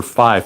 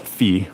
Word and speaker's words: phi: when you get into we're going to call it fee right capital phi can be pronounced either way right I per pre prefer to call it fi though because that is how it looks and it has the i in it has a resonant